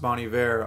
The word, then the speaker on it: Bon Iver: those of you who know that it's pronounced bonnie bear i'll whenever i'm talking about bonnie bear i'll say bonnie there we go we'll counter out each other and not bon iver yeah so anyways going